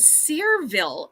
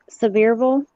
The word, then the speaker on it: Sevierville: Tennessee good one and I'm gonna go with searville Tennessee which is the home of Dolly Parton oh so the your Sevierville yes I'm sorry I may have mispronounced it